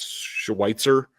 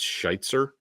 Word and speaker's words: Schweitzer: So if it is Cole Strange at left guard, ultimately, if it's not Wes Schweitzer, actually, I think it's Scheitzer is how it's pronounced, who they signed, Jets cast off.